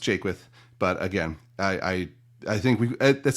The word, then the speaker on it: Jaquith: As far as my name, no one ever gets it right. Don't feel bad at all. It's pronounced Jaquith.